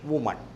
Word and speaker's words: woman: വിമൻ എന്ന് എഴുതുമ്പോൾ WOMEN, singular വുമൺ എന്ന് പറയുമ്പോൾ WOMAN ആണ്. അവിടെ ഉ എന്ന് തന്നെയാണ് ഓയ്ക്ക് പ്രൊനൗൺസിയേഷൻ. വുമൺ, ഓയ്ക്ക് ഊ എന്ന പ്രൊനൗൺസിയേഷനാണ്.